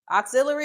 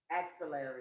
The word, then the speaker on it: axillary: If you're taking the temperature um under the armpit, how do you pronounce that word? Take that you out. Auxiliary is a cord, it's a extension. Axillary. Axillary. Everyone say axillary.